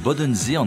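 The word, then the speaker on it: Bodensee: Được phát âm là “Boden see” bằng tiếng Đức, nó nằm ở chân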